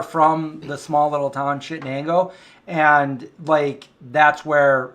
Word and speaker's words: Chittenango: Chittenango, not Shenango. Shenango County and Chittenango are different. Yeah. Chittenango.